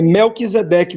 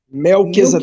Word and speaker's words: Melquisedeque: Mas como é que pronuncia É, certinho? É Melkzer? Como é que é o é Melquisedeque, meu nome. Melquisedeque.